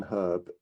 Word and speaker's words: herb: Number two, I hate to be the one to break this to you, but the letter H in herb is not silent.